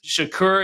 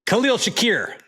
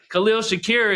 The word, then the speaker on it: Khalil Shakir: uh really really good tight ends running backs Shakur is that how you say his name ask Jay Jay can you pronounce that one for us Khalil Shakir Khalil Shakir is is a stud in the slot he